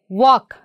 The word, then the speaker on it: walk: what about this one walk here we are not saying yell isn't it walk and what about this